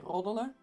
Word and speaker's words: roddelen: And you can say, roddelen. Ah. It doesn't need to be that pronounced. For instance, you can just say roddelen, which is a very short R.